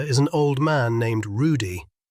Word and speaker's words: Rudy: Their waiter is an old man named Rudy. He pronounces it with a rolled R, one of the old country waiters who wear short black jackets over long white aprons.